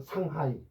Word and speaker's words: 상하이: 우리는 두 개인데 중국 애들은 상하이. 상하이. 글자가 두 개인데 음절은 세 개입니다. 모택동, 마오쩌둥. 뭐 발음은 못합니다.